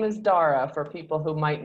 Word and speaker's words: Daragh: We start with my guest telling us his name and how to spell it. Daragh Everett. There's only one Daragh Everett, but yeah, just Daragh.